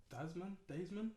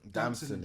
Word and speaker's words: Damson: attention of a clip or an interview of Desmond, how do you say his name? Desmond, I mean, assuming. Desmond Idris, the actor. Damson Idris, Idris, sorry, yeah.